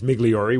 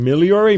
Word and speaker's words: Migliori: yours has an h my g is like an l when it's pronounced properly it's just so funny how things are i do i've gotten a point now my wife laughs i mean whenever we go anywhere and they look at they everyone always wants to try and pronounce it because it's a long lasting it's migliori which is why ever